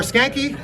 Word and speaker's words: Skancke: your last name is pronounced Skancke. Skancke.